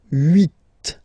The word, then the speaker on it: huit: Okay, then here final T is pronounced, so huit, huit. Remember in French this H letter here, okay, doesn't exist phonetically, so we don't really pronounce it, okay?